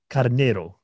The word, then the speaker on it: Carneiro: Carneiro. Yeah. Oh man, that was kind of perfect. Fine. Okay. What did I mess up on? I want to make sure. It's Carneiro. Carneiro.